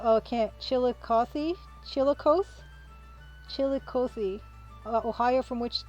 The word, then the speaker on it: Chillicothe: had a mochi doughnut okay chili chili cothy chillicothe ohio okay at least that's how it's pronounced in illinois chillicothe mochi donuts i'm gonna